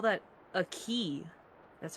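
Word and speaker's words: χ: You would call that a key. That's how you pronounce it, a key.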